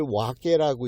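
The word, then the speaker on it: 別: 그걸 와께라고 읽는데, 이 와께는 언제든 뜻은 뭐냐면 지배자란 뜻입니다.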